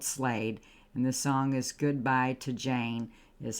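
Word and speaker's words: Gudbuy T' Jane: Goodbye to Jane, but it's spelled like the way I just said it.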